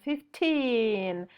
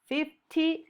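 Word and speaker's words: fifteen: Remember the pronunciation 15 because we make the accent in the last part. 50, no, 15.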